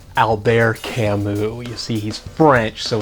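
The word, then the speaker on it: Albert Camus: first it's pronounced Alber Camu you see he's French so the ER also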